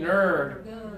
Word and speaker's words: nerd: oh try for me nerd really good you all see that she's pushing her lips forward and open alright Giovani gonna try